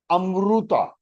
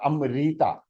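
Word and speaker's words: अमृत: Amruta. It is not Amrita. That is Hindi version. Because they pronounce this ru as ri.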